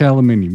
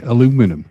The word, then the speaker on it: aluminium: out color aluminium wheeze aluminium you say aluminum aluminum we say aluminium and americans say aluminum yeah yeah aluminum is